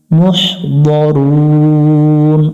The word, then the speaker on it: مُحْضَرُونَ: লেখা দেখে জামিউল্লা দাইনা মুহদরুন। এখানে দা পড়া যাবে না, মুহ এখানে হা পড়া যাবে না, মুহ এইভাবে শক্ত করে যাবে না, মুহ লম্বা হা উচ্চারণ করবো, মুহদরুন।